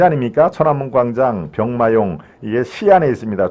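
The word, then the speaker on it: 西安: 천안문 광장 병마용 이게 시안에 있습니다 중국 서안이라고 쓰고 중국집 발음은 시안이죠 시안 진시황릉 병마형이 다 저도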